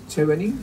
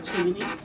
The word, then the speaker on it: Chevening: Estamos ahora con la señora Liz Nicole, funcionaria del programa de becas Chevening, ¿así se pronuncia? Chevening.